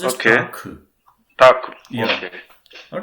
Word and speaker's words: Tag: So make sure that Tag itself is pronounced as Tak.